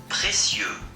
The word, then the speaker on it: précieux: This is actually how it's supposed to sound. Précieux.